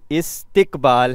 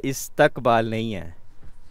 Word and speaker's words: استقبال: کیا آتا ہے۔ جی استقبال ہے، استقبال نہیں ہے، ٹھیک ہے؟ تے کے نیچے زیر ہے، زبر نہیں ہے، تو یہ استقبال نہیں ہے، یہ استقبال ہے۔ اور دیکھتے ہیں کہ